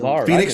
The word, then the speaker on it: Phoenix: are saying these days Phoenix company got the p is silent Phoenix starts with a P